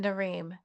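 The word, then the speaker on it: Narim: Like for example, the reason I'm mentioning that is I was thinking of the actor that played um is it Nareem? Is that how I pronounce it?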